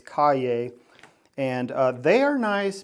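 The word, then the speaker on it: Cahier: They're called ca cay is how you say it but it it looks like it's cahir but it's cay and uh they are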